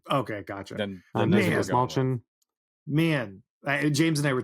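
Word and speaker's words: Dastmalchian: his last name, but is it Desmalchian? Desmalchian? I think it's Desmalchian. Desmalchian. Yeah. Desmalchian. Okay. That's how he introduces himself in his show on YouTube. Okay, gotcha. Then Desmalchian.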